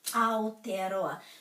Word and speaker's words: Aotearoa: We could start with our name for New Zealand, Aotearoa. So the key to the pronunciation is always the vowels.